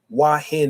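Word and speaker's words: Hua Hin: Wah Hin is spelled h u a h i n.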